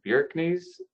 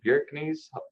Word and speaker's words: Bjerknes: familiar with the name i believe i pronounce it bjerknes wilhelm bjerknes joe might correct me on that but that's correct oh you got it